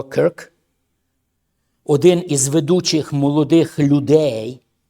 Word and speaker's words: Кірк: Слідуюче, зараз ми бачимо, що відбулося в Сполучених Штатах Америки, коли Чарлі Кірк, Кирк, Кірк, правильна вимова, Кирк, один із ведучих молодих